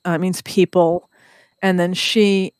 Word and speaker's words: Sidhe: Oh, Aois, AOS, and then that's Ace, means people, and then she, it's usually spelled SIDHE, but it's pronounced she.